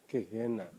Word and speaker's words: Gehenna: dalam bahasa Ibrani dalam bahasa yunaninya itu gehenna bacanya gehenna dihina itu artinya neraka